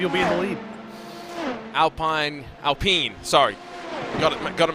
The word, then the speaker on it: Alpine: more hours maybe you'll be in the lead Alpine Alpine sorry got it gotta make sure I say it correctly I'll pee in Esports seen our car for the Sebring 12